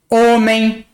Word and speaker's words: homem: O H no português, quando começa uma palavra, ele é mudo.